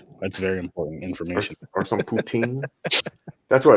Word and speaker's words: poutine: Oh no, that's the English pronunciation of it. If you're doing the French one, it's poutine, but poutine.